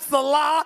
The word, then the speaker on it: Saleh: You mean the New York Jets with Coach Robert Saleh? Did I pronounce his name right? I think it's Saleh.